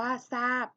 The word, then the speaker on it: ทราบ: หลัง เป็น รอ เรือ ให้ ออก เสียง ทร เป็น ส โซ่ นะ คะ ตัว อย่าง คำ นะ คะ เช่น คำ ว่า ซาย อ่าน ว่า ทราย ทรัพย์ คำ ว่า ทรัพย์ ทราบ อ่าน ว่า ทราบ จะ ลืม นะ คะ